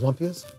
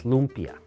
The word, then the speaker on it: lumpia: another one of these lumpas go ahead and it's pronounced as lumpia yes uh well look